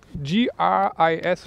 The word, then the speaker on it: Gris: It's how do you spell it? G-R-I-S, right?